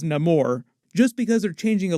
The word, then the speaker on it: Namor: my enemies call me Namor he pronounces it a little bit differently himself like he says no more just because they're changing